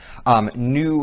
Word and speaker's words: Nu: the show new dogma new is not spelt any w here it is spelled n u and uh this is